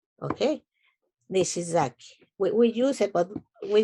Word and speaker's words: Nishizaki: So he decided to change it to easy way to say it because in Spanish we don't have SH. Okay, Nishizaki.